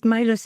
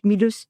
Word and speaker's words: Milus: We pronounce it Milus in English and we pronounce it Milus in French.